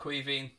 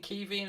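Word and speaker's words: Caoimhín: I pronounce it Queveen. Well, I grew up with friends that were called Queveen, so I've always called them Queveen. That's what they call themselves.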